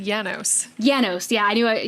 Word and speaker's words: Janus: And they said it's Janus. Is that how they say it? I thought he said Janos.